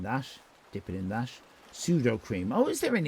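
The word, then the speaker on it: Sudocrem: Pseudo cream. Some people pronounce it pseudo creme because I don't think there's an E on the end.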